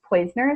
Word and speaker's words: Poizner: We are here tonight with Tracy Poizner.